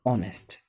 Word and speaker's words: honest: For an example, honest, HONEST. Look at, if you write down honest in Hindi, we are using o. O is Hindi vowel.